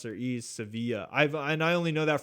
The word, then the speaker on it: Sevilla: well no that's how that's how the Spanish pronounce it so I guess in English it's pronounced Seville but they pronounce their ease Sevilla I've I only know